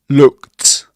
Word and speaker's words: looked: Again, looked is pronounced looked.